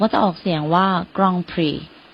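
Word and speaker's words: Grand Prix: i x จริง ๆ คำ ๆ นี้ ค่ะ มา จาก ภาษา ฝรั่งเศส นะ คะ เขา ก็ จะ ออก เสียง ว่า กอง พี กอง พี แต่ ว่า เดี๋ยว เ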